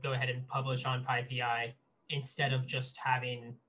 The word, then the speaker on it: PyPI: And the reason why you pronounce it PyPI, which I just sounds kind of silly, is just because there's an existing Python tool that's really popular that's called PyPy. And that said PyPI. So that sound was taken.